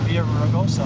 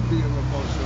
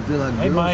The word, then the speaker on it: Villaraigosa: You were saying Villa Grossa. Hey, boys. How are you? Villa Grossa. Villa Raigosa. Villa Grossa. You don't pronounce the L.